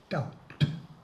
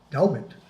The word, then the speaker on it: doubt: Ooh, doubt. Strange word, spelled with a B. It should be pronounced Daubit or Dubit, but it's not.